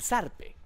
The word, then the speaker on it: zarpe: El zarpe. El zarpe ¿El como... sarve? No, el zarpe. Lo que pasa es que ustedes españoles lo pronunciarían el zarpe, porque es con Z.